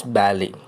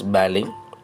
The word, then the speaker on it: ballet: The people upstairs all practice ballet. Don't pronounce TT is silent. The people upstairs all practice ballet.